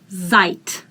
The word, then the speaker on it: seid: Ihr seid. Same thing. Die in the end is pronounced as t. Ihr seid. This combination, e, is pronounced as I. If you don't know it, write it out.